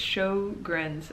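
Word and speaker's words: Sjögren's: a long-time carrier of i think it's show show grins um i looked up how to say it and i've already forgot where is it where is it i'm pretty good it's show grins oh here we go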